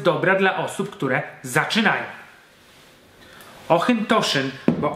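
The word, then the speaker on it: Auchentoshan: Jednym z takich obszarów szarości jest wymowa nazwy Ochyntoszyn. Każdy, kto był w Szkocji, mógł słyszeć ją właśnie pod tą nazwą Ochyntoszyn, jednak w oficjalnej polskiej komunikacji pojawia się nazwa Ochyntoszyn. Sprawa jest bardzo skomplikowana i rozjątrza wyjątkowo mocno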